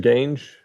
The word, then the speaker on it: Gange: And is that how I pronounce it, Mr. Gange? It's Gange, Your Honor.